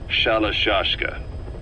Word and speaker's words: Shalashashka: Someone must have known about that, because somewhere along the line, Shashka got stuck on the end of Sharashka. The guerrillas were using the name amongst themselves, and by the time I got to hearing about it, pronunciation had wound up as Shalashashka. So, half Gulag, half Hero Sword.